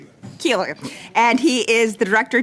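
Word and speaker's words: Koehler: From Global Athlete, we have Rob Cooler, and Cooler is the way I say it properly? Keeler.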